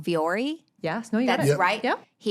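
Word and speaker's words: Vuori: Jake, my husband, he would go over to I'm going to say it wrong, Viore.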